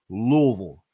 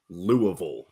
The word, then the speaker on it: Louisville: if if you live there you're supposed to pronounce it Louisville little fun little inside bit whenever I'm recording commercials uh for Louisville specifically they asked me to pronounce it Louisville they don't want me to say it any